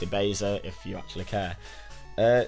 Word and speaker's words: Ebeza: you spell my name it's pronounced e basa if you actually care